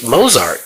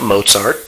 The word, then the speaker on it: Mozart: z a r t moart it's not Mozart okay who says Moes the Moes there's no T okay except at the end anyway he just liked